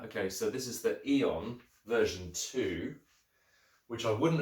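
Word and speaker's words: Aeon: a on a eon it would be pronounced eon but spelt a-e-o-n um version four is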